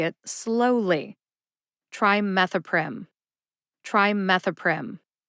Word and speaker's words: trimethoprim: it when I say it slowly try methoprim trimethoprim how did I know how to say sulfamethoxazole